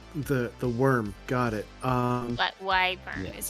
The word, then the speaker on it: wyvern: But wyvern Yeah. is how we pronounce it.